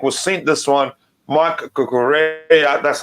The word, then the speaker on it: Cucurella: Marc Cucurella.